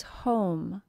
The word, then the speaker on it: home: Our key word for long O is home. H O M E. The O is said as a long O and the E is silent.